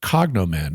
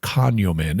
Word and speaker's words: cognomen: the third name was their cognomen or conen if you want to pronounce it fancy which was basically a